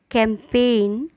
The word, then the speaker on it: campaign: ऐसी स्पेलिंग जिसमें जी है लेकिन उसका उच्चारण या प्रोनाउंसिएशन नहीं किया जाता। साइन, कैंपेन, कैंपेन अभियान। Design, resign, foreigner, assign. मैं रिपीट करती हूँ, sign, campaign, design, resign, foreigner, assign.